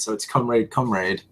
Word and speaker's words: Comrade: Comrade. Just like it. Literally, it's Russian for comrade, so it's comrade.